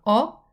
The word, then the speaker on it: ho: So ho, hai, ha, hanno.